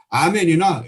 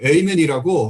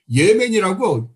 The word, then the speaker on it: 아멘: 영어를 하시는 분들은 보통 영어의 아멘을 아멘이나 에이멘이라고 합니다. 그런데 이 목사는 무엇이라고 말하면서 기도를 마친 줄 압니까? 이 목사가 한 말은 아멘도 아니요, 에이멘도 아닌 예멘이라고 이상한 발음을 합니다.